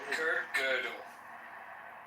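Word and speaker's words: Kurt Gödel: Kurt, how do you pronounce that? Kurt girdle.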